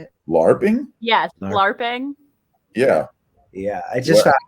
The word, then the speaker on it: LARPing: Yes, LARPing.